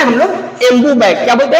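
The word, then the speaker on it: Ambu: एम्बू या इसको बोलते हैं एमबू। इसका जो स्पेलिंग होता है ए एम बी यू।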